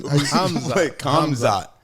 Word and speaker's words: Hamzat: Hamzat. Hamzat. I'm saying it right. Like H. Hamzat. Like hummus? No. Oh my God. Slut? No, there's no slut in the word.